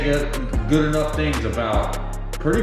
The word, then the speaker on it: geaux: using the promo code go but that's spelled in the Cajun French style just like my Channel That's go spelled g e a x I'm going to